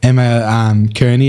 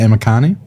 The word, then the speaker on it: Emma Kearney: Like he says Emma Kearney every week instead of Emma Carney.